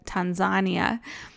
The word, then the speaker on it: Tanzania: And Tanzania is actually said Tanzania.